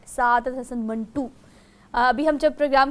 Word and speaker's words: منٹو: Minto को तो चले हम उस तरह से प्रोनाउंस ही नहीं कर रहे, वो तो एक और चीज़ का नाम है, लेकिन ये दरअसल ख़ुद सादत हसन मंटू ने कहा कि ये मंटू है।